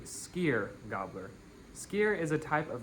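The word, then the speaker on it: Skyrgámur: On December 19th, Skier Galmer is coming to your house. His name roughly translates to Sky gobbler. Uh, and I just realized I'm pronouncing that wrong. It's actually skier gobbler.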